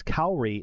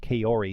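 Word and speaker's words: Kaori: kosai I was saying kosai and that it's kri not Kori so I will in the future guys try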